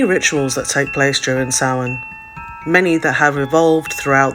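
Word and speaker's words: Samhain: I would like to start with sa spelled Sam ha but pronounced sa as it is a galic word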